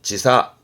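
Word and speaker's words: 時差: 지사. 지사. 뒷글자가 액자라. 금액의 액자. 액수의 차이. 차액이 되겠네요.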